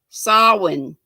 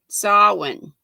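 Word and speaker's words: Samhain: i saying it right i looked it up and it said s-a-h for the first syllable and w-i-n for the second solon does that sound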